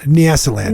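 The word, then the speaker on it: Nyasaland: Um so off you go to Nisa land. Yes. Is that how you pronounce it? Nasaland.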